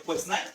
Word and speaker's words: Quesnay: El primero es Quesnay, o Quesnay, como se pronuncia, que él va a decir que el campo es la base de la economía.